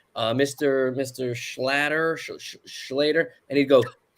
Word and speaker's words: Schlatter: it's like a like it rhymes with otter so it kind of